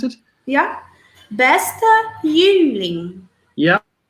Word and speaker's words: Jüngling: Can you pronounce it? Yeah. Bester Jüngling.